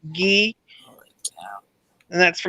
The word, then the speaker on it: gi: is so just remember GI means ghee and that's for like